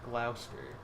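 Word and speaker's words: Gloucester: channel England is weird block a spear is pronounced Glouster I am never gonna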